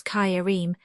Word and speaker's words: Karim: Another favourite ejaculation is Allah Karim, which Turks pronounce Kayarim, equals Allah is all beneficent, meaning ask him, not me.